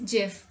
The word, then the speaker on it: GIF: which he says it's not gif but it's jif typing into this year's webby for lifetime achievement